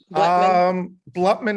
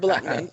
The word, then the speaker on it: Bloutman: Did I pronounce that your last name correctly? Bloutman is the second time was perfect. Okay, Bloutman.